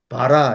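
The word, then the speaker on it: ברא: 아 발음인데. 그래서 그 바라 이렇게 읽는데 이게 창조란 뜻이거든요.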